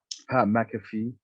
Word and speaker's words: McAfee: anyways the next match which i did enjoy mcafee which is actually how you say his name